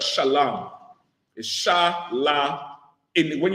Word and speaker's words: shalom: to pronounce the words that's why they say shalom with the O M instead of shalam is sha la in